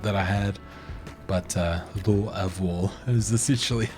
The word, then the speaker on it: Louisville: it's named after King Louie but it's pronounced Louisville um I say it with even more of a twang just because of my my uh appalachin accent that I had but uh L of is essentially how to say it um everyone